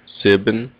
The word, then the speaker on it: sieben: Sieben. It sounds exactly like seven.